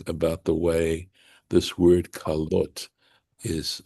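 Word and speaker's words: כלת: It was the day of Moses' completion, and that should be klot with a shava, right? The two dots, right, underneath the kaf. That's how it would normally be spelled, but it's spelled with a patach. That's this particular vowel here. That's how the tradition says we need to pronounce this word.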